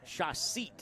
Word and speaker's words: Shashet: Shashit. Shaseat is how you say that one. Shah and like a seat that you sit on.